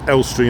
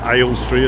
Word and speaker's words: Elstree: That's Elstree and not Aylestry, as I just accidentally pronounced it.